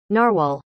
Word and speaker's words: narwhal: disappointed all this to say here's the correct pronunciation of this creature narwhal and yes it is another finger puppet um